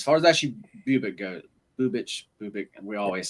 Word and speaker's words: Bubic: I'm not sure how how you actually Bubich Bubic. I only know this because I watch a ton of their games and the announcers have gotten me right on the uh pronunciation of the Bubich.